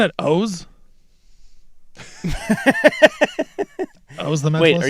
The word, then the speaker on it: Oz: It is O's the Mentalist. You're I'm not kidding. Go Google it. I just Googled it. The name O's the Mentalist is pronounced simply as, quote, O-H-Z. Rhymes with goes or hose.